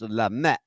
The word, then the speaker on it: Lamy: that's her last name it's pronounced lame but we say lamby lamby land is the